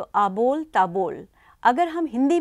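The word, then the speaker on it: আবোল তাবোল: ए बोल ता बोल बांग्ला में अगर हम प्रोनाउंस करें तो अबोल टेबल अगर हम हिंदी में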